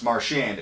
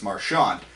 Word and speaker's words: Marchand: ago Brad Marchand said he wanted to pronounce marsh and and now this year he's going on record as saying it's Marshawn Zach Parise did the